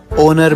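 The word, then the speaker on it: honour: देते हैं मतलब मैम जैसे एच लेटर ओनर में आर में ऑनेस्ट में नहीं बेटा को हम इग्नोर नहीं साइलेंट कंसीडर करते हैं अच्छा यह सुनकर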